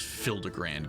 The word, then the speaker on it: Hildibrand: Since parting ways, I've searched every alley and dive bar in Everkeep for signs of this Hildibrand character. It's pronounced Hildibrand.